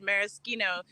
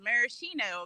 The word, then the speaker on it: maraschino: have known this but you just pronounced maraschino in the like the proper way and i've only ever thought of it as maraschino because that's what you're totally you're totally right